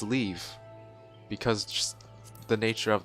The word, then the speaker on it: leve: See, the nature of this pun makes me believe that leave is actually the proper pronunciation of it. Because some people like to argue, oh, it's pronounced leve. No, I'm pretty sure it's leave.